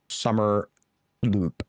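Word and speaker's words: Somersloop: Pronounced like summer loop. All right. There you go. And wait, how many is outputting? 4, so it's 8 a minute. Loop with an S.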